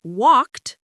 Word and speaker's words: walked: For example, the ed in walked sounds like a T sound, but the ed in played sounds like a D sound.